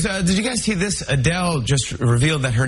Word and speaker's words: Adele: He came and asked me how I say my name, and I was like, Adele. She was like, hi, Adele. They do Adele? Adele. So it's supposed to be Adele, I guess.